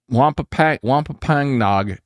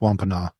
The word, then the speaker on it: Wampanoag: I think it's pronounced Wampanoag. Okay, Wampanoag. I'll go with that.